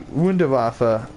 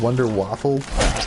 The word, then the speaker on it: Wunderwaffe: I mean, wonder weapon, but the Wunderwaffe, the Wunderwaffe, there you go, German pronunciation, people that didn't know, people call it the Wonder Waffle.